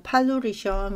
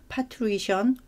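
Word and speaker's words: parturition: 자, 분만은 이렇게 파투리션이라고 해서 뭐 파투리션 또는 뭐 팔루리션 뭐 이런 식으로 이제 발음을 하게 되고요.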